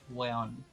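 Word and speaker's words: huevón: we Chans speak really fast so the word webon it's usually pronounced wayon oh so and and that's what that's what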